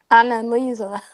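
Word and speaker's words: Anneliese: Even Annalise as a character, I cannot pronounce it with the slight And accent. Elisa. Annalise. Annalisa, yes, yeah. Yes. Or as she said it, as the narrator said it, Annalisa.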